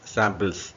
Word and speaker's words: sample: பாருங்க, SAMPLES, சாம்பிள்ஸ். ஓகேவா? இதை சொல்லும்போது SA, சாம்பிள், சாம் வந்து ஸ்ட்ரெஸ் பண்ணணும். சாம்பிள், சாம்பிள்ஸ் இல்லை, சாம்பிள்.